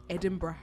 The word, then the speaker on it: Edinburgh: Edinburgh. How do you say it in your accent? Edinburgh. Edinburgh.